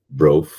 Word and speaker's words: brought: These updates brought Ah, brought essa aqui é a palavra, uma das palavrinhas com GHT que é chata.